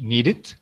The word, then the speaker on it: needed: So here we have two more examples when we pronounce the E, okay? Needed and painted. Why? Because before the E, you see a D. And before the E, you see a T. That's the reason why, okay?